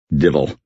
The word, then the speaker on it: devil: tools of the devil pronounced in the Scots way Dil I've often thought that